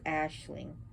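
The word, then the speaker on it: aisling: this is called an ashling traveling in a dream is it's spelled a-i-s-l-i-n-g but it's pronounced ashling so he sends people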